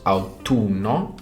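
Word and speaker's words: autunno: fall and that is out to numb or autumn and it has two ends so I'll do not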